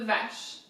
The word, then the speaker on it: vache: So, cuir, de, and then vache is cow, so literally cow leather. Vache, so VA, very simple, and then CH again, sh, vache. Cuir de vache.